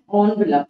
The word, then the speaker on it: envelope: An envelope is pronounced as envelope. So it is mentioned here ONVELOP जैसे pronounce करना है आपको, even if the spelling is ENVELOP.